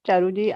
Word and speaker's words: Charu: And thank you, Charuji. I said Charuji. So I thought you, so I pronounced, I think, wrongly.